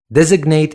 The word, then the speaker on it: designate: As an adjective, it's pronounced designate, not designate. The same spelling, but the pronunciation is a little bit different. Instead of designate as a verb, it becomes designate.